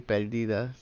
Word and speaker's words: Perdida: Perdida, so it'll be Perdida. It'll be the Spanish pronunciation.